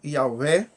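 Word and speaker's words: Yahweh: v&h mas e hebraico essas palavras são pronunciadas assim não pior repasso e em alguns pronunciam como yaveh ou javé embora em muitas tradições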